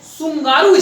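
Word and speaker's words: Tsugaru: ठीक है, वो जलसंधि है आपका बहुत फेमस जलसंधि है सुंगारू स्ट्रेट, टी से शुरू होता है लेकिन टी साइलेंट है।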